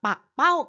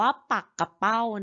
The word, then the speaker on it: ปักเป้า: ปักเป้า กับ ปักเป้า ค่ะ ถ้า พูด ถึง ปลา ชนิด นึง ที่ มี หนาม แหลม คม ต้อง อ่าน ว่า ปักเป้า นะ คะ แต่ ถ้า พูด เรื่อง ว่าว ค่ะ พูด เรื่อง ว่าว ก็ จะ อ่าน ว่า ปัก เป้า นะ คะ เขียน เหมือน กัน นะ คะ แต่ อ่าน ไม่ เหมือน กัน ดู ที่ ว่า เขา